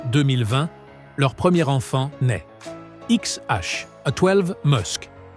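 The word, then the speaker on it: X Æ A-12: XH, A12 Musk, prononcé XH-A12, un nom qui déclenche un délire médiatique.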